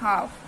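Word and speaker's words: half: would L silent है एच ए एल एफ हाफ हाफ में भी हमारा क्या है एल साइलेंट है क्योंकि एफ यहां पे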